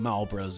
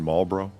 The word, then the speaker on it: Marlboro: with that we seen Marlboro yeah you don't pronounce the L what what did you say marble Marlboro ma bro are you trying to say Mario Brothers no just Marlboro if I gotta say